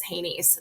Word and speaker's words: HANYS: of the way that we refer to them as HANYS, so HANYS, and we just pronounce that as HANYS.